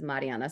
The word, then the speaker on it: Marianna: reading it but yeah the pronunciation is Mariana so I only tell